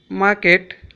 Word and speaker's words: market: Here M produce market, ma, ma sound, market. It is not market, it is market, market. Here R is silent.